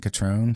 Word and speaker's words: Catron: Yeah, just everything is under my name Catron. C A T R O N rhymes with Patron Tequilas. The same just with a C.